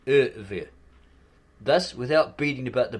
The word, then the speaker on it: Ivri: And 5 question marks, Ivri, pronounced Ever.